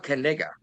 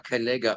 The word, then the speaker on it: Knigga: He's jumping on this name of his, and he's selling hats that say Noah Knigga on them. NOAH. Yeah. There's no KNI. KNIGGA. Yeah. And the K is silent.